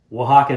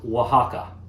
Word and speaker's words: Oaxaca: you like drop it in and that's your oaxacan old fashioned cheers let's just get some of the housekeeping out of the way here uh it's pronounced oaxaca a x c a x a c e